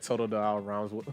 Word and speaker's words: Totodile: Said Totodile rhymes with the file, so no heal.